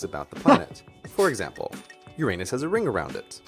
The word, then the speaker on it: Uranus: stupid YouTuber but pronunciation of the name which goes Uranus and most scientists in public life Uranus. do use this pronunciation. But for me, Uranus is still problematic. Sure, it's better than your anus but it's still urine us.